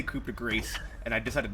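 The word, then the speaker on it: coup de grâce: Sometimes, Jerry, you're also you're asking set up for your coup de grace shots that I need to prepare myself for you. You don't pronounce it.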